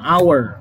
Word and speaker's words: hour: Ada lagi 1 jam, an hour. Ingat, hour. A duluan cara bacanya itu.